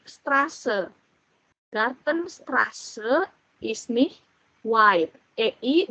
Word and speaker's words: Straße: Jadi Gartenstraße ini beta dibacanya S, bukan Strabe tapi Straße.